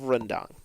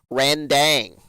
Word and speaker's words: rendang: thing and that was his pronunciation of rendang he calls it randang and i don't understand how the hell he pronounces it that way when it's not even anywhere spelled like that because he was making